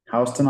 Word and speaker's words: Houston: That's how I knew it's pronounced Houston.